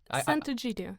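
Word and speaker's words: Sant'Egidio: Sant Egidio.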